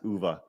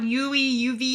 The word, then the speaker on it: Uwe: I keep calling UV. Uwe.